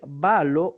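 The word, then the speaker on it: βάλλω: Vamos a leer balo, pero recuerde que si usted quiere buscar en un diccionario de griego el significado, la carga semántica de balo, tendrá que recordar que es con doble lambda Para que de momento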